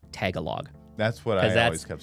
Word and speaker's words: Tagalog: Tagalog. What? Tagalog. Do it slow. Tagalog.